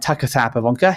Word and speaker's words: Sauer-Pivonka: And today I'm joined by Sauer-Pivonka.